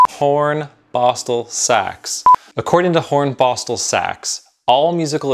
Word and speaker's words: Hornbostel-Sachs: Hornbostel-Sachs.